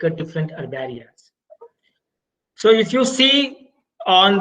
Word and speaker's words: herbaria: So whenever you are pronouncing the herbaria, no, you should call it as a herbaria instead of herbaria. So H should be the silent.